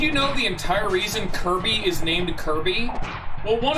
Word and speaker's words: Kirby: But also the fact that, Sakurai, the dude who made Kirby liked the name because it was a very hard sounding name. Kirby, with a hard K sound right at the very beginning with a bunch of